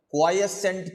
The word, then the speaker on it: quiescent: it this way only you have to pronounce this word as quiescent point only you should not mispronounce this and voltage gain occurs